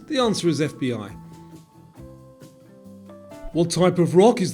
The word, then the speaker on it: FBI: Radar, Scuba, or FBI? And because it's pronounced as separate letters, the answer is FBI.